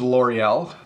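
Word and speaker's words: L'Oréal: and I'll flip it so this is L'Oreal that's how we say it in English I'm sure that somewhat close to the proper French pronunciation but L'Oreal is a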